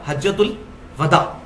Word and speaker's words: हज्जतुल वदा: थे कि यह हज्जतुल वदा है।" इसका उच्चारण 'वाव' पर फतह के साथ किया जाता है, यह 'विदा' नहीं है, सही शब्द है हज्जतुल वदा।